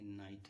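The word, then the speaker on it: night: और उसके बाद टी होता है तो जीजस साइलेंट होता है। देखिए ये नाइट है पहले एक वोवेल आ गया उसके बाद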